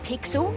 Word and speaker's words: Pixel: kid hey we're guy name's not weird guy pixel it's easy to remember because it rhymes with pickle i'm faster i'll remember